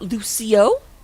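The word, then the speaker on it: Lúcio: going to take out Lucio I'm sorry the only correct way to say Lucio's name is like you're saying Rufio because this book is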